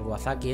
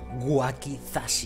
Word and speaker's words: wakizashi: eh pistola de clavos el wasaki este no lo puedo usar todavía waki o no sé qué le he dicho wakizashi vamos a pronunciar bien wakizashi no vamos a ser